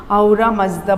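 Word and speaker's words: Ahura Mazda: उनके, वो लोग जिस गॉड को मानते हैं उसका AHURA, यस, आई was checking the spelling, MAZDA, wise God, जिसका मीनिंग होता है आहुरा मज़दा बोलते हैं, वाइज गॉड।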